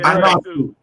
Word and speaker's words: Ionescu: Sabrina Ionescu, how you pronounce her last name? Yeah, the girl. Ionescu.